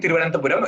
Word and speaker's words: Thiruvananthapuram: Thiruvananthapuram. Oh, that is not bad. It's actually Thiruvananthapuram if you say it fast. Try saying it fast. Oh. What? Try saying it fast. I can't talk that fast. Thiruvananthapuram.